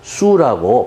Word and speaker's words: Sioux: 그쪽 지대에 있던 수족 SIOUX로 표기됩니다. 발음에 유의하셔야 됩니다. 수라고 발음됩니다.